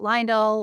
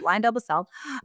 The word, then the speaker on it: LyondellBasell: Uh, we get Lionel, Lion Del Basil, Basil, but Lion Delbasel.